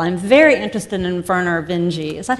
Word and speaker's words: Vinge: I'm very interested in Werner Vinge. Is that how you pronounce his name? I never knew Werner how. Werner Vinge, yep.